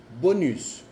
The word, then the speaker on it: bonus: Por ejemplo, bonus. Bonus. Bonus es como prima, extra. Bonus. Y ves, ya no es el sonido on porque sigue una vocal.